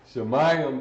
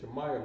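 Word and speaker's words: שמים: Shemayim, that first word is one word, not 1, 2, 3, 4 words. That's you got the right syllables, but it's one word.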